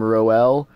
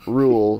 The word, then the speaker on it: Roel: rule from last week who I pronounced his name roel uh he very sarcastically says thank you for pronouncing my name correctly roel pronounced rule from Belgium well rule I pronounced